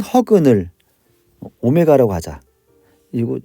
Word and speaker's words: 오메가: 얘는 이제 오메가라고 읽어야 되고요.